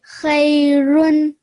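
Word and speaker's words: خيرٌ: Khairun. Good. Can you hear the n sound at the end? Yeah. Khairun. The n sound at the end because of the tanween, isn't it?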